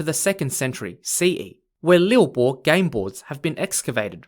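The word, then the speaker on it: liubo: a more ancient chinese game called lil bo lil bo spelt l-i-u-b-o lilbo was a mysterious ancient chinese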